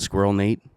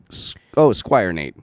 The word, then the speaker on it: Squire Nate: There's no L on the thing, but I always pronounce it Squirrel Nate. Okay, so yeah, the other fellow that's joining him. Oh yeah. Squire Nate.